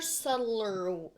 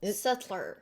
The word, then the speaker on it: subtle: in a much calmer, subtler... Yeah. Subtler. It's about to get loud, though. Subtler. More subtle? There. That's it. But you don't pronounce the B in subtle.